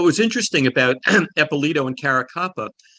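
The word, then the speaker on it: Caracappa: louis eppolito and steve caracopa did i get those pronounced right uh it caracapa you're a copper and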